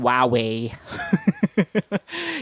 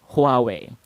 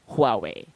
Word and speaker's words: Huawei: So instead of just saying HUAWEI, you want to pronounce that with an H at the start, with a slight breath at the beginning, if you need to, if you need to do that.